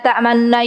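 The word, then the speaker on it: تأمنّا: Sebenarnya kalau teman-teman belajar tahsin, la ta'manna itu bacanya itu nanti ada monyongnya ke depan sedikit saja. Ya, berhenti dulu baru monyong tanpa suara, gitu, terus nanti kembalikan ke belakang, ya.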